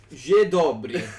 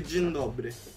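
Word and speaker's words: Dzień dobry: Allora, io lo leggo come lo leggerei io, Je dobry. Je No, questo qua è tutto insieme. Si legge tutto insieme, ma è tipo magistrana. Cioè, ma ti pare che devo fare cazzo di professore? Dai, che sarebbe Jen dobry.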